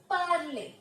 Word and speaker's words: parlez: So whenever you see EZ in French, it will always be pronounced as A. Okay. So it will become vous parlez, that is you speak, and it is used in formal situations only.